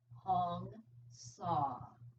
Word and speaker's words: Hong Sa: The mantra that I was taught in Ananda Yoga is Hong Sa. Hong, it rhymes with song, and Sa, it rhymes with draw.